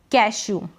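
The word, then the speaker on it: cashew: जैसे कि ये है कैशू। ठीक है? ई डब्ल्यू यहां पर कैशू। बड़े ऊ के रूप में पढ़ रहे हैं।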